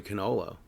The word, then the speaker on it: cannolo: Yeah, I think in Italian it's actually cannolo.